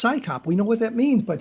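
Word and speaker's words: CSICOP: And Scychop you actually have a name you can say. It's Psychop.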